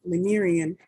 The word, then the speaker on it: Lemurian: It is lemur, like the animal, lemur, Lemurian.